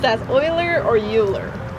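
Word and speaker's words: Euler: And then is e u l e r pronounced as oiler or uler?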